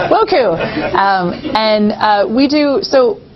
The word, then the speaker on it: WOCCU: I'm on the spot, but it's WOCCU, World Council of Credit Unions. Yes. Woku.